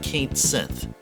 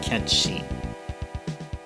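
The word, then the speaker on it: Cait Sith: But his name looks like you pronounce it as Coochu Lane. It's not Coochu Lane, it's Kahalen. And this is not Kate Sith. This is actually more like Ketchi.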